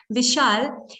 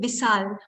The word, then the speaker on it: Vishal: And imagine if I talk like somebody, like a villager, for example, instead of saying Vishal, imagine if I said Bisal, so, we will not like it.